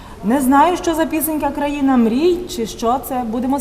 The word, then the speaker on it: країна: розкаже хто не подобається країна оце країна всетаки країна в Україні же не люблю коли так наголоси можна на ка поміця пісенька